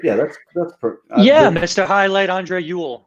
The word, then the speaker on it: Ewell: highlight Andre Yool Yool is kind of how you would say it